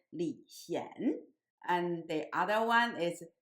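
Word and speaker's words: 李賢: the same in English, but in Chinese, one of them pronounced in the second tone, and the younger one's name pronounced in the third tone. So one is Li Xian, and the other one is Li Xian.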